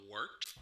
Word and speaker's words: Wort: It is the Wort, not warts, not forts, not short, the Wort.